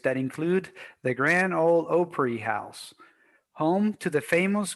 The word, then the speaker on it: Grand Ole Opry: Nashville, Tennessee, the home of the Grand Ole Opry. Grand Ole Opry, man. You see, I know Luis been watching Oprah. I said Opry.